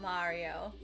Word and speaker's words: Mario: I always get told by Mark that it's Mario, not Mario. That's how you pronounce Actually, the name in Italian is it's Mario.